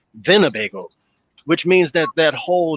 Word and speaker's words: Winnebago: It's Winnebago, like pronounced, instead of W, it's with a V, Winnebago, which means that that